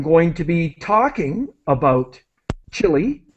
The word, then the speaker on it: Chile: to be talking about chile is the pronunciation that we use in english chile because we're talking about